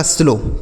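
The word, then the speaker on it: slow: लिखा है तो दोस्तों इस ओ डब्ल्यू का उच्चारण ओ की मात्रा होता है।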